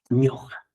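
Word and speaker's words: ñuqa: Yo normalmente, usualmente se dice como ñoja. Ya. Entonces tenemos aquí yo ñoja.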